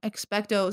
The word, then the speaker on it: Expecto: to do that um expecto sounds like expect uh you're not wrong